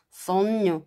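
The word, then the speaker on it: sogno: 그래서 손녀 뭐 이렇게 그렇게 발음합니다.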